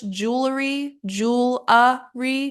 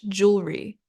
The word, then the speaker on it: jewelry: Then we have either in American English, jewelry, jewelry, or British jewelry, jewelry.